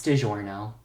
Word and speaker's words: DiGiorno: It's DiGiorno.